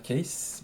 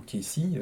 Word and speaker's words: Cayce: On a également Edgar Cayce, ou Casey, suivant si c'est prononcé à l'américaine, qui était un célèbre